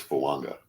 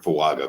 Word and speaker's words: Fuaga: where there's like a it's not a silent n it's an invisible n it's like kind of the opposite of a silent letter yeah okay yeah cool